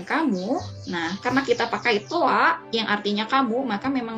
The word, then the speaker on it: toi: Yang tulisannya seperti ini, dibacanya toa. Jadi ingat kalau ada huruf i di akhir, dia akan bunyi jadi a ya, berubah bunyinya jadi a.